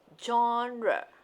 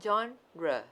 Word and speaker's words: genre: groups it is pronounced genre okay means it came from french words okay that's that's why it sounds like so french okay so how you pronounce it it's like john okay genre okay so from now